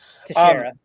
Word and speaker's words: Teixeira: So that's going to be Mark Teixeira, right? Is that Teixeira, how you pronounce it? Teixeira.